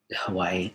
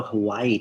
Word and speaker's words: Hawaii: Hawaii.